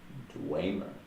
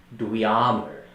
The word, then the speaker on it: Dweomer: The magic of the realms and things like that is pronounced, it's spelled Dweomer. Dwemer. That's what I thought. Dwemer? Dweomer.